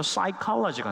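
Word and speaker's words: psychology: 이 푸시케에서 푸가 이제 묵음이 되면서 사이콜로지가 나왔습니다.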